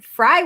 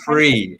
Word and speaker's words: Frii: got to apologize because I was pronouncing the name wrong as in Fry world like yeah it's free and I'll explain that